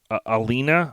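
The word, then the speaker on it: Alaina: me hard is um alina i believe is how you say her name a-l-a-i-n-a stark on october 22nd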